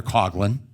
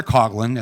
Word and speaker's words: Coughlin: Back in the day when I was growing up, Detroit, home of Father Coughlin, sorry, that's how it's said in the Midwest. Father Coughlin at the Shrine of